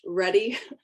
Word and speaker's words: ruddy: Again, some of you know that I have really, I guess it's pronounced Ruddy, not Rudy. I always say Rudy.